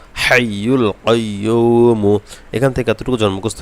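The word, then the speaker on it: الحي القيوم: যেন এই হা এবং ভালোভাবে মুখস্ত হয় ভালোভাবে উচ্চারণ হয় আস্তাগফিরুল্লাহি লা ইলাহা ইল্লাহ হুয়াল হাইয়ুল কাইয়ুমু হাইয়ুল কাইয়ুমু এখান থেকে এতটুকু জন্ম মুখস্ত হয়ে যাবে এবার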